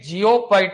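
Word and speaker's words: geopbyte: जेपोबाइट देखिए, एक तो होता है जेटाबाइट, ये है जेटाबाइट, और एक जियोबाइट होता है, जे नहीं होता, जी होता है, जी होता है ना, जियोबाइट।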